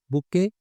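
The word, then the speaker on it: bouquet: Committee, बुके people. अभी इसे बुके बोलना है, बुकेट नहीं बोलना। टी साइलेंट है।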